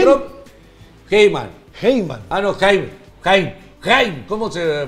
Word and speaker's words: Haim: Heyman dice que los extraterrestres sí que ¿quién? Trump... Heyman. Heyman. Ah, no, Haim. Haim. Haim. ¿Cómo se pronuncia? Haim Eshet.